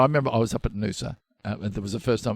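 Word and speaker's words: Noosa: I remember this is tedious but I remember I was up at Nusa there was the first time this is back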